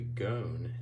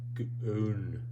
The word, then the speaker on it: gone: And the reason why I should say gone is because it's a silent E word. So you have a vowel, consonant, and then an E. Just like in loose, the E is silent. Don't hear it. In a vowel consonant E syllable, the E is silent. And the first vowel is normally, if it follows the rules, is long. But in this case, at which point it would say goon, goon.